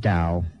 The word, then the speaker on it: Dao: it yes there's no it does but it's pronounced Dao good food good food